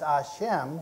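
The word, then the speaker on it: Hashem: the one that means action preserves knowledge is pronounced a Shem which is the Hebrew word that's substituted for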